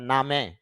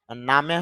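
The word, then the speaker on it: name: বা এম ই মে, তা নামে, নামে হবে না নামি হবে না নেম হবে নাকি নেম হবে, কোনটা হবে তার সঠিক উচ্চারণ আইপিএ তে দেখলে আমরা বুঝতে পারবো। আইপিএ তে দেখতে পারতেছি নামে না, উচ্চারণটা হবে নেম।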